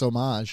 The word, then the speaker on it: homage: think it's homage. I think it's homage. I don't think you really pronounced the H.